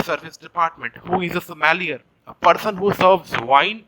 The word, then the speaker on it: sommelier: food and beverage service department who is a sommelier a person who serves wine is a somalia